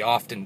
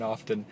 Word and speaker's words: often: protesting Sudan as he often does I pronounce the T in often I don't often do that but today I just did it three times just now uh he got